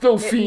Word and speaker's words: Dauphine: Dauphine. Are we I'm going to Dauphine. I We're do going to- remember that. That's to throw off our listeners. Now they think we're going to Dauphin. It's pronounced Dauphine.